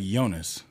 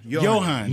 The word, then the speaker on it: Johann: Not like Jonas. Like, that man put me through a ringer. Who? Jonas. Or how do you pronounce his name? Johann. Johann. Yes.